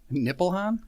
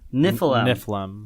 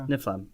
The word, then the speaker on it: Niflheim: Niflheim. Nippleham? Niflheim. Okay. Niflheim. Thank you.